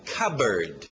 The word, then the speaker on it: cupboard: Alright, continuando, a pronúncia é fácil nesse aqui, o som de K, e lembra pássaro, era bird, então cupboard, cupboard. Cupboard.